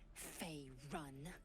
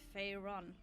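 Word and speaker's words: Faerûn: on matters of this F run no no it's fa Ron I don't even know if I say it correctly she has many sounds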